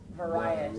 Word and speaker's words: variety: is variety so variety how many syllables you hear when i pronounced variety right variety full four very good okay and